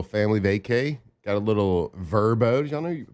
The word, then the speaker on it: Vrbo: Got a little Verbbo. Did y'all know pronouncing Verbbo, not VBO?